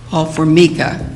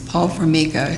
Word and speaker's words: Paul Fora: I'm trying to remember how we say his name now Paul fora I used to say for but it's Paul fora and it's very well